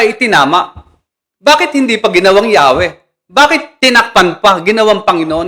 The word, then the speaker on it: Yahweh: Pero ang pronunciation ay Yahwe na sa talatang ito'y nakaugnay sa pandiwang haya